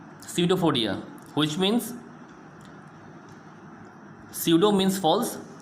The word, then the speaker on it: pseudopodia: Student, as you can see the spelling of the pseudo, P is silent, Pseudopodia, pseudopodia, which means pseudo means